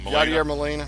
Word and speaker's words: Yadier Molina: Yadier Molina.